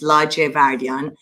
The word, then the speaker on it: Ladjevardian: my name is sima la giavardian i know it's difficult to pronounce but it's larger vardyan i am running to